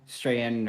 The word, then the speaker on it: Strahan: Yep, Michael Strahan or Strachan, whatever is the. No, Michael Strahan.